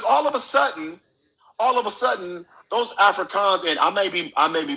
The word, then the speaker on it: Afrikaans: No. It's Afrikaans. It's with a K. It's Africa KAAN or something like that.